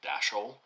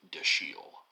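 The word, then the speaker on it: Dashiell: writings and I know everyone at least in the United States pronounces his name dashel but according to his longtime partner and playwright lilan Helman uh he actually PR ounc his name Desi it's an old uh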